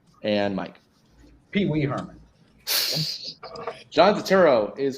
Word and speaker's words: Turturro: There is an R. It is Turturro.